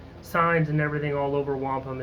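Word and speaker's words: Wampum: and cities and towns you just uh you mispronounce until somebody laughs at you. So, it's not Wampom, it's Wampom.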